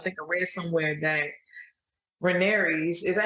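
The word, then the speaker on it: Rhaenys: around uh i think i read somewhere that renee's is that how you say her name yeah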